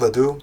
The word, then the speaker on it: Ledoux: I guess Ledoux. I'm not sure. With the French names, you don't pronounce the last letter sometimes.